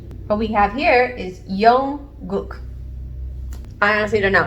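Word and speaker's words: 영국: What we have here is Young-guk.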